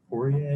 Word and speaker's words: Poirier: But I mean, Dustin Poirier, is that how you say his name?